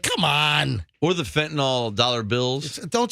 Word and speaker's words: fentanyl: and you'll die okay just remember fentanyl rhymes with dollar bill all right so don't